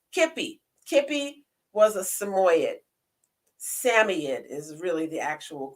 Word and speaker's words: Samoyed: Samoyed is really the actual correct pronunciation of it.